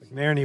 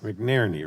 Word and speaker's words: McNerney: Did I say your name wrong again? I'm sorry. All right, let me get it right. McNerney, right? I keep saying it wrong.